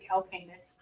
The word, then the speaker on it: calcaneus: I've always pronounced it calcaneus.